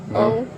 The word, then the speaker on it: Crowningshield: CROWNINGSHIELD. Just say it for me. Crowning Shield. Crowning. So spell it again.